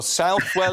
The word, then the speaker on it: Southwell: Yeah, no, I'm a great believer is that you should do what the locals say. You should always do what the locals say. So Southwell it is.